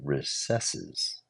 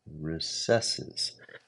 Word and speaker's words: recesses: So many souls within its dim recesses. Hang on a second. Is that how you say that word? I think a lot of people say recesses. Recesses. To recess is a verb.